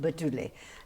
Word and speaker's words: Batule: The last name is pronounced Batule.